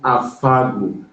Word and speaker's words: Afagwu: Oh, I want to learn how to pronounce your surname. It's Afagwu. How do you say it? Afagwu.